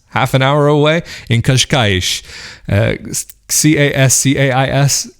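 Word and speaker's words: Cascais: an hour away in kashkaish c-a-s-c-a-i kaz kais i guess would be the way you'd pronounce it in english but it's this cute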